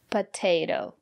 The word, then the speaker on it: potato: Italian good job and now let's look at this word potato the first letter T is pronounced as because the syllable after the letter T is stressed potato and the second letter T is pronounced as a fast de potato because the syllable after the second letter T is not stressed potato I love potatoes